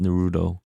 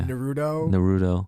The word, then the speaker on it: Naruto: I think it's properly pronounced Naruto. Oh, is it? Yeah. Naruto.